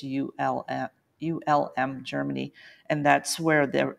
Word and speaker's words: Ulm: week also in um om Germany I'm not pronouncing that right it's ULM ULM Germany and that's where they they have a